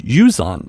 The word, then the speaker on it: Uzan: I've been saying his name wrong. I asked him when we sat down the other day, how do you say your name? Just because, the way the head coach says it isn't always the right way. So I asked him, and it was Uzan, and I've been saying Uzan.